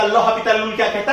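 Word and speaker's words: l'Hôpital: Book में पढ़ा होगा, L'Hospital रूल कहते हैं। एक्चुअली वो प्रोनाउंसिएशन गलत है, इसका सही प्रोनाउंसिएशन है l'Hopital रूल।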